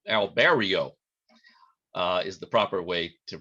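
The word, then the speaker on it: Albireo: telescope here uh this is a star called albierro or albero alberio is the proper way to pronounce it now you may be saying well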